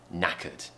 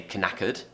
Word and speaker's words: knackered: simply means tired okay knackered no is the beginning okay although it begins with a K it's a silent K we don't say can occurred we have to start